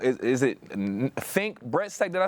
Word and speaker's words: Fink Bressack: Yes, I'm so sorry if I pronounced the name wrong. Is it Fink Bressack?